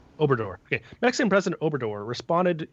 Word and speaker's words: Obrador: Obrador. Obrador.